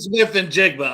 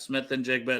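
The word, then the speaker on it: Smith-Njigba: You'd have to think Jackson about Smith and Jigba. I can actually pronounce that one correctly.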